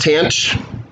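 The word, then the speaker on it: tanh: just create different things so uh this is pronounced tanch it's just cinch over kash and i went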